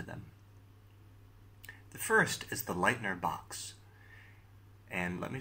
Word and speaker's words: Leitner: The first is the lightener box. And let me spell that.